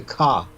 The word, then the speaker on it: Ka: Egyptians had with the Ka. Mm-hmm. And so I was able to... You said it right, but I'm just re-emphasizing so people don't think you said cock. Ka. Yeah. That's spelled K-A.